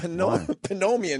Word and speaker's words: pneumonia: with the fact that some words have the dumb P in front of them? No, I'm saying I was agreeing with you because it was worthless. Like psychiatrist, psychologist, it's idiotic. But in a weird way, that would make sense. But pneumonia never made sense.